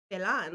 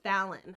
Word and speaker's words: Phelan: tell us how to pronounce your name," and she said it was pronounced Fallon.